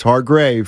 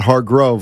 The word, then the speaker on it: Hargreaves: say his name right it's hard grave yeah it's not hard Grove like my my car Grove the human rain delay